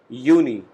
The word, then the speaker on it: Juni: J alphabet in German has the sound of Y. So we call it Juni, means June.